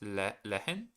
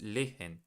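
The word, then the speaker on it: lehren: Uh you don't really have to pronounce the the H from Lehen. Oh, okay. So it's just leen. Thank you. Yanush. Oh, it's le I'm saying like le it's leen like this leen.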